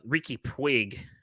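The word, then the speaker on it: Riqui Puig: And you guys let Ricky Puig, that's how you say it.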